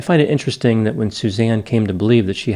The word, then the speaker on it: Suzan: her name to suzanne she spelled it s-u-z-a-n which some people would pronounce susan but apparently she did pronounce it as suzanne growing up suzanne's family